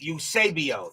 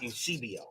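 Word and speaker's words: Eusebio: like a Milwood Usab usabio. Thank you very much. So, it's Usabio, not Usibio. Milwood will pitch. MILWOOD 62 HIT BY PITCH. NO, USABIO 32 BASE HIT PAST SECOND BASE.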